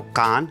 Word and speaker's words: Cannes: इसकी स्पेलिंग है सीडीएस कुछ लोग कैंसर बोलते हैं कुछ लोग सांस बोलते हैं सही नाम क्या है क्यों है देखिए एक फ्रेंच वर्ड है नाखून है इसको दो तरीके से उच्चारित किया जा सकता है या तो कान या कैन लेकिन का अंश या